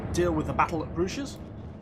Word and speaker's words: Bruges: At the end of this turn, it looks like we'll probably have to deal with the battle at Bruges. Or Bruges, not Bruges.